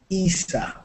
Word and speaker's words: Isa: Isa or Issa? Hi. Hi, how are you? Yeah, I'm doing good, thank you. How do you say your name? Isa. Isa.